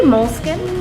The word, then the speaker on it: Moleskine: Well, they say Moleskine. Moleskine? But it just depends on where you're from.